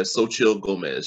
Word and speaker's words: Xochitl Gomez: Yeah, Xochitl Gomez, she was outstanding.